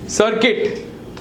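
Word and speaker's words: circuit: केवा डिसगाइज बोला डिसगाइज प मुन्ना भाई ए सर्किट सर्किट इ सीय IT just like बिस्किट this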